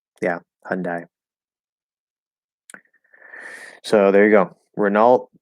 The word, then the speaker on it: Hyundai: some people say hyundai so they actually changed the i to a um the way i always naturally said it the way that i heard it growing up was mostly hyundai yeah hyundai so there you go